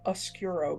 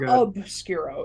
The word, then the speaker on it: oscuro: They are called the Ladro Oscuro bells. Ladro. Ladro, and then I know how to spell obscuro. Okay. It's not obscuro, it's oscuro.